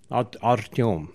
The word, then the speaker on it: Artem: what's well it's uh it's easy to pronounce artem but originally it sounds artem artium yeah very good and